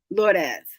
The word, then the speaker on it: Lourdes: I pronounce it Lourdes. Lourdes.